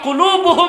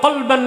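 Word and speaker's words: قلب: সুম্মিয়াল কলবু কলবান লিতাকাল্লুবিহি, অন্তরটা এক জায়গায় থাকে না, ঘোরাঘুরি করে, এজন্য এটাকে বলা হয় কি? কলব। উচ্চারণ ভুল করেন না, কালব না, কালব মানে কুত্তা। উচ্চারণ কি হবে? কলব।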